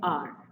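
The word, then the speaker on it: hour: एन आर, तो H silent है, आर अ की साउंड आ रही है।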